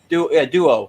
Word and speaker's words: Duo: Duo. Duo. You and Anthony both from Queens say it sounds like dual, like you have swords.